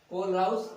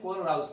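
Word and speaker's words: Kohlrausch: कोलराउस का नियम। तो आज हम पढ़ने वाले हैं कोलराउस का नियम, पढ़ने वाले हैं कोलराउस लॉ।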